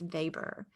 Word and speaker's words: Weber: our second max weber it's not pronounced weber it's pronounced weber so he's looking at